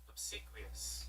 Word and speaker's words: obsequious: Was it Obiquous? Quuas. I had no idea how to say that word. Obsequous.